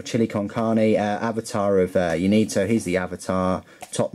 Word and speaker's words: Ynnead: It might have a silent Y, so it's just Need or Ned. The triumvirate of Ned, but I'm just going to call it Ynnead.